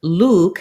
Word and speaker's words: Luke: And then Luke has the tense oo vowel. And then, so I might say something like school Luke or cool Luke, because then when I